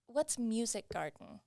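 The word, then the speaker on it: Musikgarten: Well, how about instead what's Music Garden? Am I pronouncing that right?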